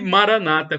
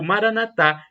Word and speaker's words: Maranata: ele proverá Creia e Maranata como dizem os evangélicos protestantes com a tônica na penúltima sílaba o Maranatha Como disse os católicos com a tônica na última sílaba o significado é o